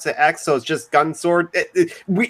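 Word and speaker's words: Gun X Sword: it's it's belgun ex sword but you don't pronounce the EXO's just gun sword we it's weird it's weird the main character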